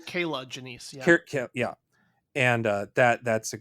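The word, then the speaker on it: Janisse: Kirla Janice, I think is how you say her last name. Kayla Janice, yeah.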